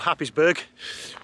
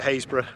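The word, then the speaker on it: Happisburgh: rest of the world looks like it's called happysburg but locusts call it haysbrough and that's the type of pronunciation difficulties you're getting to when you're in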